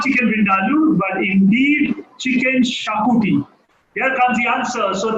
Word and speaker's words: Xacuti: How do you spell that? XACUTI. Chicken Shakuti said no further.